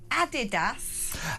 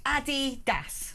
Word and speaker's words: Adidas: So it's pronounced Adi Das. It's not Adidas.